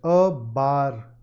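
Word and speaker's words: barre: This is pronounced a bar class.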